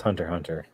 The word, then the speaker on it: Hunter x Hunter: I thought the X was basically silent. This is Hunter x Hunter.